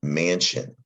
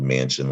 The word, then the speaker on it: mansion: became the english word mansion and it's the s-i-o-n that's the trick to this word it's pronounced shun in english for some reason doesn't